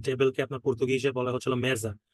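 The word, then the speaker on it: mesa: আপনার পর্তুগিজে বলা হচ্ছে মেজা জ এর মত উচ্চারণ হচ্ছে মেজা ঠিক আছে বাট মেসা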